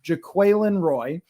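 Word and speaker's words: Jaquelin Roy: I've seared it into my brain it is pronounced Jacqueline Roy and uh and one thing I noticed was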